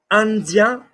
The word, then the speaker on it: Indien: So how are we going to pronounce the word India? Not Ind, but And. That's it. That's it. Indien, Indien, and.